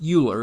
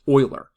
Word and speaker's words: Euler: It is not pronounced Euler; it is pronounced Euler.